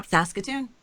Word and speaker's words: Saskatoon: Well, they were in Saskatoon, is that right? Yeah, Saskatoon.